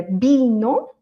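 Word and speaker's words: vino: En espagnol le correct, la façon correcte, c'est B. pour tout B. OK, c'est juste que le B et le V il va sonner plus fort quand il est au début d'un mot et bino le vin euh et le bourre l'âle c'est exactement pareil parce que c'est le début du mot donc forcément on a tout l'air on prend de l'air et on va prononcer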